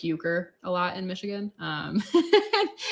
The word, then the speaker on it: Euchre: and I'd be like how do you spell it like chank euger no like Euchre so it's uh what